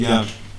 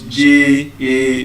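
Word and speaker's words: japa: The slang is spelled J A P A. Ja if I call it with the Euroba asent it is Ja do you understand but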